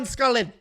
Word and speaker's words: Salkilld: I think the D is silent. And I watched the tape, obviously. He's never been in the UFC, so I can't run off memory. And I don't remember anybody pronouncing the D.